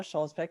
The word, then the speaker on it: Skjolsvik: a favorite passage sure my name is schulzbeck and thank you so much jennifer for pronouncing my name correctly that's like the biggest